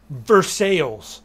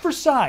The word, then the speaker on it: Versailles: have London Kentucky and we have verses not Versailles it's spelled versailes but it's verses everyone if you like my